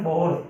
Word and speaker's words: Bohr: बोहर की, इसको कई बुक में बोर भी लिखा जाता है जबकि एक्चुअली में ये BOHRS है, ठीक है ना, बोहर, ठीक है ना। तो बोहर मैंने लिखा है, ये सबसे प्रोनाउंसिएशन सही है इसका, बोहर।